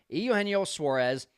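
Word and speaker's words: Eugenio Suárez: He gives up a third pitch grand slam to the biggest Cub killer of all Cub killers, Eugenio Suarez, which apparently that is the correct way to pronounce it.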